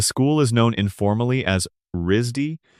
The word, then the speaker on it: RISD: The school is known informally as Risdy, pronounced like the word RZY without the second syllable,